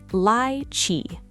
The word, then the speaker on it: lychee: Pronounce it lychee.